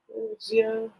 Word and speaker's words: wuxia: It's like Wuxia.